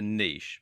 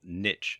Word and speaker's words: niche: need to do is to choose a niche, or niche as some people pronounce it.